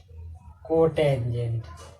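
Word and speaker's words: cot: चौथा है दोस्तों कोटेंजेंट, जिसको हम क्या बोलते हैं, कॉट।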